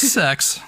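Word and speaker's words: Szex: It's just sex. Well, it's spelled Szzex.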